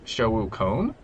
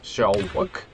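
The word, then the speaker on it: xiaowuc1: is uh x-i-a-o-w-u-c-one and this is pronounced shookon most people uh pronounce it like shell work and they omit the one but in fact uh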